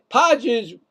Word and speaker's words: Pages: Podges, should be Pages, but Podges makes the catch. I mean, because it is spelled P-A-G. No, I get it. Just playing. That's the way they want to say it.